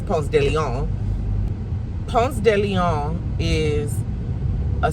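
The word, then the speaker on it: Ponce de León: Ponce de Leon is how we pronounce it, even though it's Ponce de Leon.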